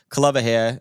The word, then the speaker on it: Kalevahea: genealogy of it, but Kalevahea is the right way to pronounce it.